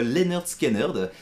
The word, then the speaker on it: Lynyrd Skynyrd: de chez Galago Music pour vous présenter aujourd'hui Sweet Home Alabama, le grand titre de Lynyrd Skynyrd. C'est le nom du groupe et la manière de le prononcer.